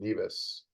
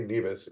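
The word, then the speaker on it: Nevis: Kits and Neas. So, it turns out they say neas and we say neas in the US or so I was told.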